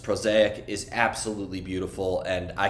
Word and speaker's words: Prosaic: you here your new album uh which is pronounced prosaic is absolutely beautiful and I cannot wait for